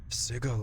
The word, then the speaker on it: Sigil: Sigil is our fair city, Restless One. And it's actually pronounced Sigil, not Sigil.